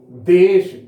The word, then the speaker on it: देश: देश ऐसा उच्चारण नहीं होता है, देश तालाबी श का उच्चारण होता है, तो यहां होना चाहिए था क्या? देश।